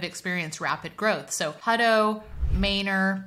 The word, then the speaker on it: Manor: rapid growth so hudo mayor yes we pronounce it mayor here even though it's clearly Manor this Dell Valley area